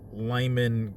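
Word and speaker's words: Limon: at hotels for uh Lyman Colorado I think that's how it's pronounced l-i-m-o-n I think that's the name of the town and there's some hotels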